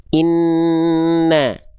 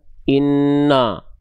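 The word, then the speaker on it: إِنَّ: Inna ya. Bukan inno enggak. Tapi inna na ya.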